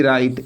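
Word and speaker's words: write: प्रयोग किया गया है लेकिन इसका जब हम उच्चारण करते हैं इसका प्रोनंसिएशन करते हैं तो ई का प्रोनंसिएशन नहीं होता है यह साइलेंट होता है राइट राइट ई का उच्चारण नहीं हो रहा है तो यहां पर ई क्या है साइलेंट है अब हम इसमें अगर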